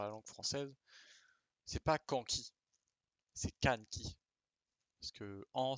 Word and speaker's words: Kanki: C'est pas Kanki, c'est Kanki. Parce que en, ça n'existe pas. Donc, nous avons K, N, juste le N tout seul, Ki. K, N, Ki. Kanki.